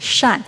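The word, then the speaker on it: 善: pronounced Shan Shan and benevolence is also pronounced Shan so it's a reminder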